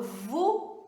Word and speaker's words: vous: Olha só, se eu falo VU, tem som de U.